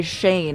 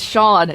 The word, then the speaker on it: Sean: I keep I want I keep wanting to say Shane and it's got spelled like this though. So I literally wrote it like how you spelled it Rorow cuz I'm like it's Shawn in my head I'm like Shawn Shawn